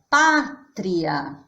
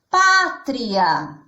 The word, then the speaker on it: pátria: Então, se eu tenho a palavra pátria, eu já sei que a minha sílaba tônica nessa palavra é o pá. Como que eu sei isso, só de olhar? Porque essa sílaba está com um acento gráfico. Ela tem aqui o acento agudo.